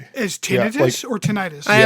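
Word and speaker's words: tinnitus: Um, so it's not pronounced tonitis. It's tinidis. Tinidis. Yeah. I always say tenitis because it sounds cooler.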